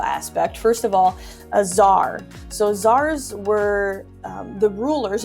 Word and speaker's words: tsar: spellings that are there, C-Z-A-R, T. Oh, I just put that again. T-Z-A-R should have been the other one. There, it's pronounced czar.